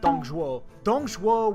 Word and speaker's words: Dong Zhuo: The problem is that Dong Zhuo, and that's how you say it, Dong Zhuo was already a very ambitious man.